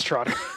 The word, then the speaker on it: Trotter: You pronounced it right. It's Troder.